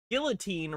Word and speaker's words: Guillotin: Phyllis Filler says that's why Dr. Guillotine, roughly pronounced Guillotin, was beautified by the Vatican.